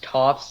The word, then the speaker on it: Toph: a second uh second movie because they would pronounce toff's name like toe for some you don't know who top is